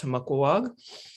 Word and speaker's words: Tomaquag: is just the narragansett word for beaver it's pronounced tomokwag and um it's just a beaver uh when